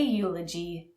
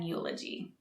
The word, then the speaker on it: eulogy: is called a eulogy notice the E is silent and we say a eulogy not an eulogy first let's go over